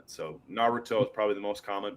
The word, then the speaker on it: Naruto: Every every syllable is supposed to have an equal accent. Um but the letter U and the letter I generally don't get a strong accent. So Naruto is probably the most